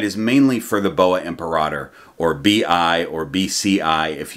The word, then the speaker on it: imperator: By the way, I've decided to change the way I've been pronouncing the word imperator. I used to say imperator because people say it both ways, but then